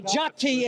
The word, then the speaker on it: jati: So why do they call- jati is how it's pronounced, Okay, by so- the way.